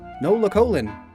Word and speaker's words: Nolocolon: So now this is our water ground type intestines Pokemon, Nolocolon. Same syllable flow as Pyukumuku, Nolocolon.